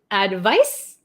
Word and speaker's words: advice: or recommend it's a verb one more time pronunciation advice advise okay okay so we'll do really quick